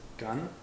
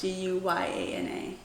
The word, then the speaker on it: Guyana: I think it's Ghana. No, it's Guyana. Ghana's Ghana. Guyana.